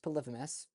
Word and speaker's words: Polyphemus: And again, it's pronounced Polyphemus.